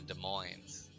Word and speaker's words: Des Moines: I'm pretty sure it's like Des Moines, and then it's like, I don't think you pronounce the S, so it's Des Moines, not Des Moines.